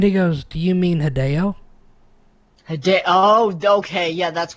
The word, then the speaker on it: Hideo: was pronounced and he goes do you mean hideo hide oh okay yeah that's right hideo I was like it's hideo okay so I gotta make myself say hideo now because he actually did live in Japan